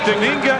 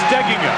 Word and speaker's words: Steigenga: sound anywhere near it the accent on the pronunciation that most people use is on the second syllable but Matt says it should be on the first Sil steing he was